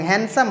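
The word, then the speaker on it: handsome: जैसे देखिए हैंडसम, यहाँ पे डी होते हुए भी हैंडसम नहीं बोलते हम लोग, हैंडसम बोलते हैं।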